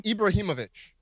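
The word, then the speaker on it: Ibrahimović: Ibrahimovic.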